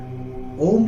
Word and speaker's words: ओम: ओम शब्द का जो उच्चारण है वो आ, उ और मा के साथ है और इसका रेशो सामान्य तौर पर 1:1:1।